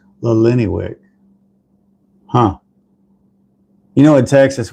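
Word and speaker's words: Illiniwek: Lennywick. So it's Illini, Wick.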